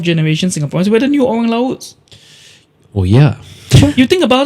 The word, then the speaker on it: orang laut: Orang laut Yeah. Yeah. Did I pronounce it wrongly?